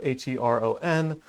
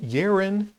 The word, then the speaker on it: Hero: I've seen it spelled H-E-R-O-N. I've heard it pronounced Hero, Heron, Heron, and Yerin. But I think he's most known as Hero.